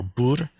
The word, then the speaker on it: 不: This is just good old bu or bur. This is pronounced a little bit differently depending upon its context. Completely on its own, it is often just bu.